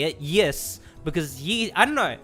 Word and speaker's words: Ys: as I say it yes because ye I don't know it's meant to be pronounced so it's ISU in Japanese so ye makes sense